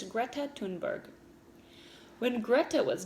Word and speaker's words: Thunberg: girl named greta tunberg it's spelled like thunberg so some people say it that way but i believe it's greta tunberg when greta was not